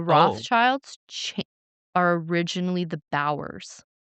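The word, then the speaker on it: Bauer: So, the Rothschilds ch are originally the Bowers. Okay. Like the ice skate brand spelled the same B A U E R. Bower, which is interesting.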